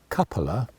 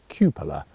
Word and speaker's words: cupola: the point that uh i'm saying the word coupler it should be of course cupola is how you actually pronounce that word in other words the domed bit on the top of a commander's cupola it should be not coppola i believe i've been saying in the past so thank you for